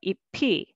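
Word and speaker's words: 잎이: And next is ip, E, but together EP.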